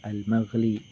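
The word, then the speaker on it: المغلي: Au bi fathil mim, boleh juga dipatahkan mim, wa kasril lami, dan kasroh lam. Jadi dibacanya al-maghli.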